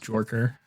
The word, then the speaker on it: jerker: I loved the concept of a Vader jerker. Pronounced jorker.